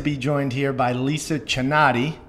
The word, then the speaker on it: Chinatti: Excited to be joined here by Lisa Chinatti.